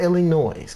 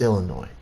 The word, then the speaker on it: Illinois: here says Illinois it's Illinois okay the S is silent yeah yeah Illinois That's